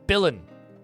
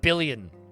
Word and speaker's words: villain: yeah there it is it's billan not billion speaking of billain I've